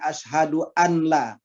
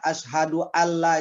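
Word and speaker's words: أشهد أن لا: Asyhadu anla ilaha illallah maka kita membacanya bukan Az duaan la tapi asyhaduallailahaillallah Nah mungkin kita sangat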